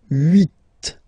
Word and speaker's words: huit: Then here, final T is pronounced. So huit, huit. Remember in French this H letter here, okay, doesn't exist phonetically, so we don't really pronounce it, okay, so if you listen carefully, you will only listen or hear these vowels at the beginning of the word.